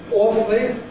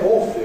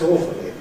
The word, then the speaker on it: awfully: Awfully, we say awfully, or perhaps awfully. We certainly don't say awfully. That's quite wrong, but that's what this person wrote.